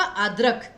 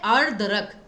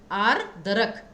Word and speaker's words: आर्द्रक: आर्द्रक, ठीक है ना, क्योंकि ये तो था आद्रक, ये है आर्द्रक, आर्द्रक। इस प्रकार से आप इसका उच्चारण करेंगे।